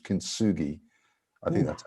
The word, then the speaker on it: kintsugi: Kintsugi Hope mental health groups are a great initiative by my friend Patrick Regan.